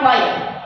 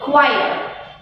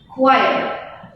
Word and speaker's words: quiet: also known as squire it is not quite it is quiet how do we pronounce it quiet please pronounce it with